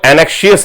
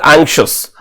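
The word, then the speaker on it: anxious: इसको एनेक्शियस नहीं पढ़ते, कुछ बच्चे इसको एनेक्शियस पढ़ देते हैं। इट इज एंग्शियस।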